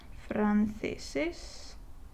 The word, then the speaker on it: franceses: plural form, because naturally in this word the accent is on this syllable, franceses, el francés, los franceses.